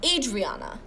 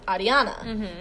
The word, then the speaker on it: Ariana: And so I don't have an Enya, but the R is rolled. So I had one lady at my church call me Adriana. What? Yeah. So I've been called Adriana before because my name is pronounced Ariana.